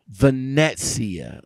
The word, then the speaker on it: Venezia: let me ask you this how do you pronounce the name vanessa vanessia okay okay and you guys are the the